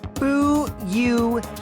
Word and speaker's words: Fuyuhiko: My first name is pronounced Bu-Yu-He-Ko.